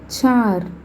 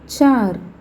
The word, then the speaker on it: चार: 1 दो दो 2 तीन तीन तीन तीन 3 चार இர். அதாவது ர முடிகிறப்ப வந்ததுனால நம்ம இர்ன்னு ப்ரொனவுன்ஸ் பண்ணுறோம். சா இர் சார்.